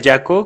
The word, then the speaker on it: Jaco: Bueno, mi nombre es Jaco, se pronuncia Jaco como el personaje nuevo de Dragon Ball Super, para los que les parece curioso.